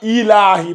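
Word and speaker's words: إِلٰهِ: Sur le lam, il n'y a pas de shadda. Illahi. Faut pas dire il. Quand tu dis illa, c'est comme si tu rajoutais une shadda.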